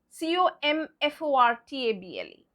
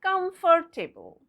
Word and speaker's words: comfortable: Well, going by the spelling, it will be comfortable. Comfortable. No, that's wrong. Why? Because again, silent letters. Yes. So what are the silent letters? The O-R and the E at the end are all the silent letters. You just can't pronounce them. And so what will be its pronunciation like? Well, it's comfortable. Comfortable.